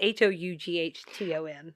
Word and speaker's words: Houghton: It's Houghton. I was guessing that's how it was spelled, and I was thinking Houghton.